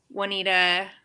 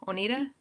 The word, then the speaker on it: Oneida: But the other class I went to that I really loved was the Swedish butter knife class, with Kutzall, Juanita, how do you say that? Oneida.